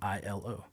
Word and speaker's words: Aiello: But then it's also an acronym of how you pronounce my last name, ILO.